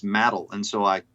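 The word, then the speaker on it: Madill: check okay because I I was saying Mill and Google told me no it's matal and so I said matal and all the locals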